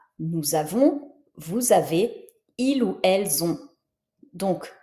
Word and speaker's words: vous avez: on a, nous avons, vous avez, il ou elles ont. Donc, tu vois, nous avons, je prononce comme un z, puisque j'ai le S suivi d'une voyelle. Vous avez, le S suivi d'une voyelle.